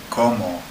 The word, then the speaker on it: cómo: Okay, the way I used to remember como for how was to say, come on, how? Come on, how? Como. And it's spelled like I eat, como, but with an accent on the first O.